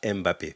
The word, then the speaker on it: Mbappé: Oui, parce que ça se prononce Mbappé, pas Mbappé. Parce que quand c'est M apostrophe suivi du mot, on dit Mbappé. C'est comme l'eau. On ne dit pas L-O, on dit l'eau.